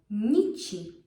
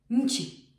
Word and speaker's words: nici: If you would try to put the short ni, it wouldn't work. It would be too hard to pronounce. Nchi. You hear it? Nchi. You can't pronounce nchi. It's nichi. Doesn't work. Same with Niemcy. You can't. You need that softening sound for the ni to flow.